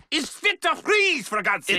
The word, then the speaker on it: Fries: My name is Fit to Freeze, for God's sake. It's freeze, but you spell it fries, like French fries. Weird. It's German.